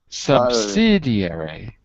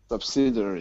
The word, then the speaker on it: subsidiary: Subsidiary is difficult to pronounce. Good. Say it backwards. If it's difficult, go backwards. You say E, then you say airy, then you say subsidiary, then you say subsidiary. So always go backwards.